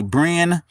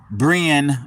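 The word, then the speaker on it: Brean: This name here, we can't hardly see it, but it's spelled B-R-E-A-N. So I'm going to say Bren, and L-E-K-E-I-T-H, Lakeith Bailey, B-A-I-L-E-Y.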